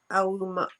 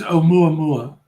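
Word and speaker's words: ʻOumuamua: These ideas that came to explain scientific properties of, how do you say it? Aumama. I can't say it. Yeah, it's Oumuamua.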